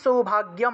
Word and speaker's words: সৌভাগ্যম: 13 নম্বর দেখুন, দেহি সৌভাগ্যম, দেহি সৌভাগ্যম, গয়ের সাথে জফলা থাকায় গিয় উচ্চারণ, দেহি সৌভাগ্যম আরোগ্যম, গয়ের সাথে জফলা,